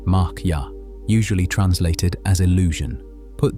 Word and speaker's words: Maya: The word most often attached to this teaching is Maya, pronounced mara, usually translated as illusion.